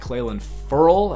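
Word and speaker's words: Clelin Ferrell: rookie out of southern Illinois getting a sack clay land furl as I just learned is how you say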